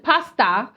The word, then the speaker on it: pastor: And then there's equally news which says that this self-acclaimed prophet, Ghanaian Pasta, you understand that's how Ghanaians they pronounce pastor.